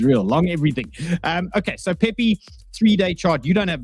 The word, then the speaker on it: Pepe: And I call it PP. Some people call it Pepe. I don't even know how to say it. How do I say it? What do you call this thing? Pepe. Not PP.